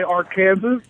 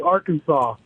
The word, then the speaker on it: Arkansas: Uh yeah, I actually read that Arkansas legislated the pronunciation of their name because people would say our Kansas, so it is officially Arkansas.